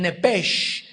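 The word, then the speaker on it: נפש: al salír sele el nepes apúntalo ahí el alma en el hebreo es nepes se pronuncia nepe la ch hebreo se pronuncia como J nepes murió vemos pues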